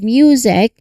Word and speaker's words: music: So it's time the M sound which is made with your lips closed and sound coming through your nose quickly followed by the Y sound which is music.